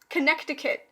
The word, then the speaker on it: Connecticut: n n e c Connecticut that's how it's spelled but you don't pronounce the C you you know what